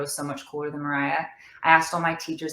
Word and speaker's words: Moriah: yeah yeah do that maybe i should still have like the line over the o because it's still a long o little squiggly there that's